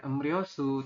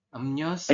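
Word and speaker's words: 음료수: riou seperti itu ya tulisannya em ryosu teman-teman nanti membacanya bukan Em rosu tapi berubah menjadi em nyo emnyosu apa yang berubah sem yang berubah adalah rnya menjadi n seperti itu ya Jadi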